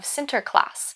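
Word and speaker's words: Sinterklaas: celebrate the Feast of sinter class which is the Dutch pronunciation of Saint Nicholas people would begin this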